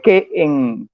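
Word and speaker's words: καί: sería I, o sea, se escribe kai, pero se pronuncia que para que no me regañen los profesores de griego, los que me dan clase, no me vayan a regañar, se pronuncia que, porque ahí hay un dictongo.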